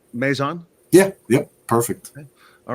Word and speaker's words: Mazon: So Sam Caldwell and Alexander, do I say Mazon?